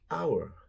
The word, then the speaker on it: hour: Honest begins with an O sound. O. Like hour, you know, hora. 1 o'clock, 2 o'clock, 3 o'clock, rock. So it's our, honest. Oh, there we go. Our, honest, honor. So these are pronounced with an O at the beginning, not an H. The H is silent.